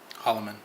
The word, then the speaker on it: Hollomon: kin how do you say your last name Hollman Hollman what kind of last name is that